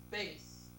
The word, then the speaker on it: bass: deep male singing voice is spelled the same as a fish but it's pronounced differently what is bass several opera scores by